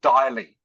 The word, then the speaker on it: daily: Rhymes with day. Okay, so it's not daily, it's daily.